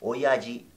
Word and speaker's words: oyaji: Oyaji, la J, acuérdate que se pronuncia como un j, como el jin, ¿ok?